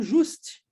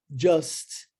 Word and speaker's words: just: padrão linguístico do português, o U tem som de U, e aí eu vejo as pessoas pronunciando just, né? Mas o U, no inglês, tem som de A muitas vezes, seguindo o padrão. E aí fica just, tá? Com o J na frente.